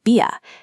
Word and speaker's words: Bier: In Berlin, Bier softens into a near vowel sound like Bia.